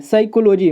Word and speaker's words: psychology: साइकोलॉजी, मतलब कि ये जो आपका पी होता है ये आपका साइलेंट होता है। ठीक है, इसको आप ध्यान रखिएगा, और इसका हम प्रोनाउंसिएशन क्या निकालते हैं? साइकोलॉजी, पी को छोड़ देते हैं।